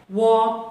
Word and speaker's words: walk: If L comes between A and K, L is silent. Walk, talk, chalk, etc.